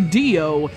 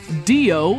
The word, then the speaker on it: Diox: One head says rhythm game, the middle head says hack and slash, and the third says, hey, the X is silent, and we have guitars and zombies.